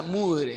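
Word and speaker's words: Moivre: lo que era el teorema de Mudre, se pronuncia Mudre, así.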